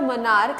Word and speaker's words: monarch: ES के लिए मैंने च पढ़ा था CH को, मोनार्क के लिए when I am pronouncing this word monarch I am using CH as K.